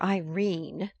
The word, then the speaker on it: Irene: My daughter Irene, said Mrs. Kstyle. She made it rhyme with Tene has had no social advantages.